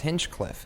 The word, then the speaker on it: Hinchcliffe: ends with an E it's hinchcliff it's spelled h plus inch Cliff plus e yeah that's so cute